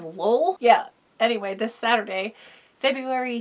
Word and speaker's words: Lowell: tiny, in Lowell, Massachusetts, that is Lowell. Feel like spelling it is necessary because New England town names make no fucking sense. I think the proper pronunciation is Lowell.